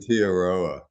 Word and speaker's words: Aotearoa: November on a travel logs program talking about Aotearoa. Is that how you say it? Aotearoa.